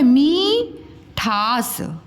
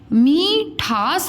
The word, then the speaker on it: मिठास: अब ये लिखा हुआ है मीठास, मीठास हम बोलते हैं कि मिठास बोलते हैं, मिठास, ये देखो मिठास।